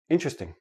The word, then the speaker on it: interesting: the word is interesting but in everyday speech interesting interesting interesting I have four syllable syllables when I actually say it naturally it becomes three syllables and that T and the R becomes like a CH but that's we'll talk